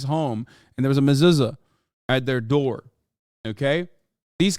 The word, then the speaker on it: mezuzah: A mezuzah.